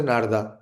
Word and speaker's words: नारद: नारदा नारदा बोल रहे हो, अरे इज इट नारदा? What is the name of नारद मुनि?